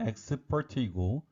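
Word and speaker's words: export: 동사로는 수출하다의 뜻으로 쓰입니다 주의하실 점은 명사의 발음과 동사의 발음이 다르다는 것입니다 명사는 x part이고 동사는 expert입니다 트랜스젠더라는 표현은 들어보셨나요 트랜스는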